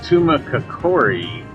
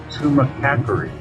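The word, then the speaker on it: Tumacácori: Now that looks like Tumacacori, but they actually corrected us and said Tumacacori. That's because the accent is on the A.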